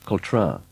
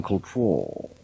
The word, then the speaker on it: Cultra: duncath and tell him how to pronounce cultra he insists in saying cultural as the partial snobby people who live there said they do that